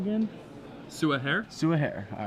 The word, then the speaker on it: Soua Her: Soua Hare.